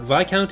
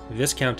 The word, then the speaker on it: Viscount: one comment that's like why are you pronouncing it wrong but Vai count is the correct pronunciation this count is not especially we're going by